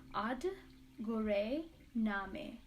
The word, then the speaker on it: Aad Guray Namay: I'm also going to show you how to say it. The mantra goes like, Aad Guray Namay, Aad Guray Namay, Aad Guray Namay.